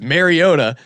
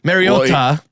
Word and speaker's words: Mariota: actual pronunciation is, and he says Mariota, or at least that's how I hear it. So Mariota. Mariota. Mariota. That as long as you say Mario, you'll get it right.